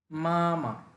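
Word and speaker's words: 妈妈: লাওশে মানে শিক্ষক মামা ফাস্ট টোন দুইটাই টেনে বলতে হবে মামা মানে মা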